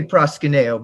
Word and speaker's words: Proskuneo: name it is pronounced proscunio we say proskuneo but it's greek so we're not exactly sure what it's supposed to sound like originally exactly and he's going